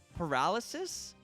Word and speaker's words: paralysis: god oh my god i just always assume it was pronounced polarisus why did i never notice i said it wrong before i i thought that